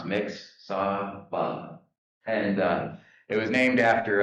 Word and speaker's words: Mixsawbah: And we just said it's like it sounds, Mixsawbah.